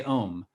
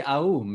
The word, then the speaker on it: Om: even something like ohm we say we say om it's it's really aom it's really like a very complicated and joe